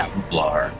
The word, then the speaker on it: Nublar: Anyway, so Nublar cuz there's there's like an L there.